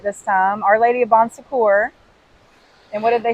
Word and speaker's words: Bon Secours: Our Lady of Bon Secours.